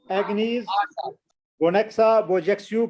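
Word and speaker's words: Agnes Gonxha Bojaxhiu: एग्नीज गोनेक्सा बोजेक्सियू। हाँ, थोड़ा सा ये मुश्किल है तो प्रोनाउंस करना, लेकिन जब आप प्रैक्टिस करोगे तो ये कोई बड़ी मुश्किल बात नहीं रहेगी आपके लिए।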